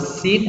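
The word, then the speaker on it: س: dengan qiroah ingat bahwasanya pengucapan huruf Sin adalah tarqiq ya Sekali lagi apaan anak dalam mengucapkan huruf Sin sifatnya adalah para tarqiq bukan Tafsir tapi target tertinggi itu artinya tipis artinya apa arti tipis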